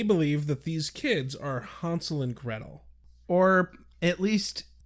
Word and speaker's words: Hansel: Or as they made a very clear point of pronouncing it, Hansel and Gretel. Even Xander was like, Hansel and Gretel? Why, yes, Xander, Hansel and Gretel. Not a single person at any point said Hansel, like the Midwestern tool bags we are.